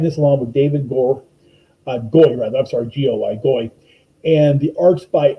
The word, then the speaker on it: Goy: She's writing this along with David Goy, G-O-Y, Goy.